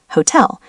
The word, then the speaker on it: Hotel: Examples: hotel, hotel, typically stressed on the second syllable in German, hotel, because it's a loanword.